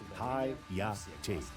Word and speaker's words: Hayate: Good luck, captains, and remember that the ship's name is pronounced with each syllable stressed. Hayate.